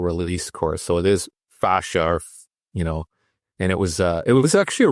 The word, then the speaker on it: fascia: So it is fascia, and it was actually a really good course.